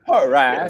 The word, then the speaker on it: Poirier: You're fighting this bum, Dustin Poirier. Did not say his name right. Did not say Poirier at all. Yeah, Poirier. Totally wrong.